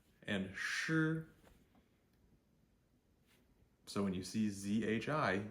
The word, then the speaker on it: zhi: so when you see zhi you should think J R the way you would pronounce Jr is okay CH hii think